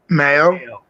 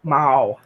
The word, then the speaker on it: Mao: Mayo, Mao, No. Mao. Wow. Mao. It rhymes with Jen Wow. It's Mao.